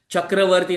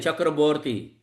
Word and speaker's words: Chakravarti: Just like Bengali, you must be heard that Chakravarti, nahi Chakraborty.